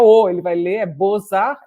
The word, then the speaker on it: Bozar: museu de belas-artes posar em francês né então bozar se inscreve BH OLX arte aí como mudar